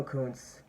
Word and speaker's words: Kuntz: I've been saying it wrong the entire time. It's Leo Koontz.